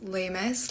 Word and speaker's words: Lamas: Last name is pronounced Lamas, like famous. It's the only thing it rhymes with.